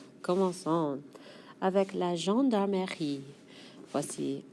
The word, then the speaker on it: gendarmerie: avec la gendarmerie. Voici la...gen...dar...merie. La gendarmerie. Eh, this one's a little more "meuh" than I pronounced initially.